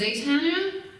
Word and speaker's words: Zatanna: We almost did a book for, is it pronounced Zatanna for DC?